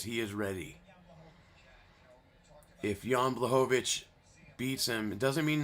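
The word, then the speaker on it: Błachowicz: All right, here comes the former champ, the Polish power, Yan Blovic. Blhovich. Let's hear how you say it. Yan Bohovich.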